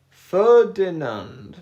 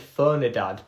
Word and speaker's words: Ferdinand: Ferdinand. That is it right. Ferdinand. I think maybe I said Fernidand before. It's F Ferdinand.